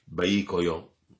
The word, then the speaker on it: baicolo: biscotto si chiama baicolo, scritto baicolo, ma la pronuncia è un po' diversa perché sai che questa L dei veneziani, baicoio, tipo una cosa di questo tipo.